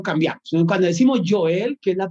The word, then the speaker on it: Joel: hay una tendencia en español a decir o joel y allí ya ya lo cambiamos en el cual decimos yo el que es la pronunciación correcta aunque se escriba